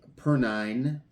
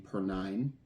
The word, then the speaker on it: Perine: Uh, Sam J. Perine, I believe, is the way you pronounce his name. per nine.